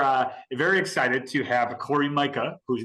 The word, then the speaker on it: Cori Myka: wonderful we are uh very excited to have Corey Micah whose name I pronounced correctly we established it right before and